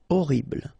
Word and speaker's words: horrible: Okay, first letter is H, but then we don't pronounce H, so you don't pronounce it. And the first thing you hear is O, horrible.